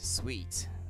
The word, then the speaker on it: suite: The suite. That's how it's pronounced.